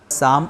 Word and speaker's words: Psalm: शाम में P silent है, L साइलेंट है, PSALM, इसको शाम पढ़ेंगे उच्चारण इसका।